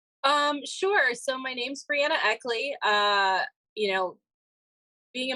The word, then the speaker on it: Breanna Eckley: robert garner wellness podcast very happy to have brianna eckley did i say that correctly yep i ask